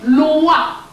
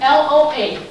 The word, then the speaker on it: loa: Their Loa is written L-O-I, our Loa is written L-O-A. Both are pronounced the same way.